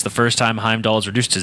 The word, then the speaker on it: Heimdall: I can hide while keep pronouncing my guy's name wrong. Heimdall.